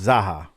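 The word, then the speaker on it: Zaucha: fans zaha it's pronounced zaha it's zaha it's like baja but za zaha all right so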